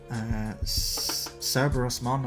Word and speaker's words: Cerberusmon: Liamon, Tinkermon, Sirenmon, Kayarumon, Cerberusmon. I don't know why I keep wanting to mispronounce that. It's quite easily Cerberus and then Mon at the end, which is a rare.